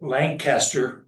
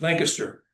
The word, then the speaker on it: Lancaster: and Jean Thomas of not Lancaster but Lancaster sorry rhymes with gangster and um mom and dad met when dad was in CPS.